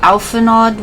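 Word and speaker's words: Alphinaud: the NPCs I got alphanod with me I think his name is pronounced alphano but I'm just gonna say Alpha nod because that's what I'm used to I might inter change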